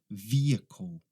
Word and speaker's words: vehicle: Esta aqui é vehicle. Vehicle. Não é vehicle, não é vehicle, é vehicle. Vehicle, tá?